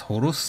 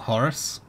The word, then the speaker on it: Horus: bright wings of horse it's pronounced Horus not Horus my whole life has